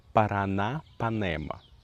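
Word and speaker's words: Paranapanema: A, the name of which not every Brazilian can pronounce, but I'll try now. Para parana parana panema.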